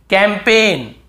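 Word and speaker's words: campaign: हम याद रखना है कैंपेन कैम पेन कैंपेन यहां पर भी जी साइलेंट है कैंपेन फॉरेन बहुत से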